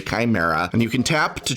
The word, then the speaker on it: chimera: 3 3 legendary chimera i still like to pronounce it shimmer but ok chimera and you can tap